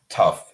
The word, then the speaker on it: tough: Obviously, tough is correct. So tough. And we have that F sound.